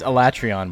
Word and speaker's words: Alatrion: Streamer doesn't pronounce. It's Alatrion, bro.